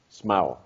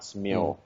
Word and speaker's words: smá: The only thing that I would critique is smá. Okay. Smá. Smau. Not smio. Smau.